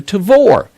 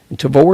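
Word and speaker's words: Tavour: buy highly rated and sought after beers through tavor tavor is spelled t-a-v-o-u-r now the tavor app is available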